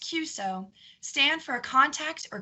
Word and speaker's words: QSO: non-hams watching our program the letters q-s-o pronounced cuso stand for a contact